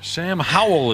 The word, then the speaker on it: Sam Howell: Sam Howell is how you say it.